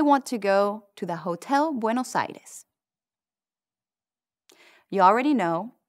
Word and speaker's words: hotel: Now say, the Hotel Buenos Aires. You can do this one. El Hotel Buenos Aires. The H is silent in Spanish.